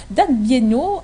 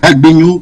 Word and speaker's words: Dagbenyo: Merci madame, effectivement vous avez essayé de prononcer mon nom, c'est Dagbenyo.